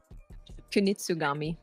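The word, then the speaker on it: Kunitsu-Gami: How do you pronounce that game again? Kunitsugami.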